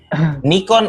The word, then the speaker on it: Nikon: Nikon ya, bacanya Nikon.